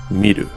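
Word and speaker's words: みる: this confusing is that when both characters are used as verbs they are both pronounced miru so they happen to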